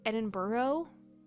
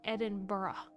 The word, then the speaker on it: Edinburgh: I can't say it right though because I want to say Edinburghough. Edinburghough University. It's where my championships were is Edinburghough University. But it is Edinburgh.